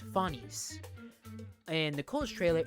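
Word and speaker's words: Phanes: So for those who don't know, the original uh Greek pronunciation is fines. It's fines. In Nicole's trailer, it's fain. That's more of the slightly Greek/English pronunciation.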